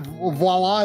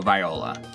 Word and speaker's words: Viola: know the character's name is it voila is that how you say it no Viola Viola okay um I liked